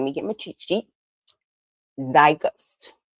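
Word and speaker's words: Zeitgeist: Our word of the day, it is pronounced, let me get my cheat sheet, thy gust.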